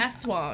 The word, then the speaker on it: Aswang: Aswang. Yeah, Aswang.